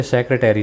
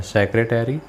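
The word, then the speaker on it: secretary: इस शब्द का उच्चारण है सेक्रेटरी और इसका दूसरा उच्चारण है सेक्रेटरी. तो सेक्रेटरी एंड सेक्रेटरी दोनों उच्चारण आपको सुनने को मिलेंगे और दोनों सही हैं. तो सेक्रेटरी इसका अमेरिकन प्रोनाउंसिएशन है और सेक्रेटरी इसका जो है ब्रिटिश प्रोनाउंसिएशन है.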